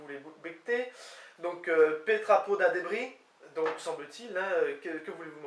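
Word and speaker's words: debriñ: Donc, Petrapo da débris, donc semble-t-il, hein, que voulez-vous manger? Débris, qui s'écrit D-E-B-R-I-N, avec le tilde sur le N, semble-t-il se prononce débris, et donc c'est le verbe manger.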